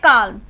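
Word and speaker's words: calm: एम डी के एफ से पहले आने वाला एल जो वर्ड है वो हमारा साइलेंट हो जाएगा। जैसे कि हमारा है काल्म, जो इसमें एम से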